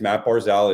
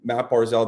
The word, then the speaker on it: Barzal: going to throw some money on it, is Matt Barzal is 50-1 to win the Hart.